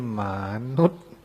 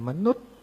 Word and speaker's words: มนุษย์: นี้ บอก มานุษย์ อ้าว เฮ้อ มนุษย์ ใช่ มั้ย มนุษย์ ไม่ ใช่ มานุษย์ ออก เสียง สั้น ๆ ว่า มนุษย์ รวบ เสียง เร็ว ๆ หน่อย มนุษย์ ไอ้ นี่ มนุษย์ ทำ